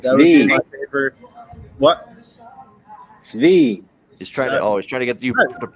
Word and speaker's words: Svi: Svi. He's trying to get you to pronounce it correctly.